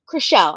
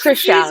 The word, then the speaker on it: Chrishell: I know I just said, Chrishell, but Chrishell. I just butchered it again. because She, of Trishelle. It's Chrishell, confusing.